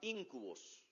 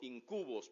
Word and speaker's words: íncubos: nace en la mitología la palabra íncubos como incubos pero con acento en la i íncubos íncubos son demonios